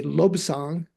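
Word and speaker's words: Lobsang: But if together uh the nasal sound of the B goes onto the first syllable. So you say lobang.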